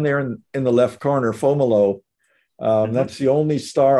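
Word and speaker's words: Fomalhaut: and they always called uh this season the fomolo hour it's a way south thing and it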